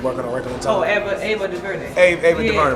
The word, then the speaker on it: Ava DuVernay: Anna DuVernay, is that how you pronounce her name? And she made 13th and working on Regular Time. Oh, Ava DuVernay.